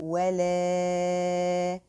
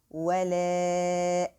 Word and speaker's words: ولا: So the prolonging here should be 4 counts. So I have to say ولا, 1, 2, 3, 4, and then pronounce the hamza after the prolonging letter very well. So I have to say ولا and make the hamza light.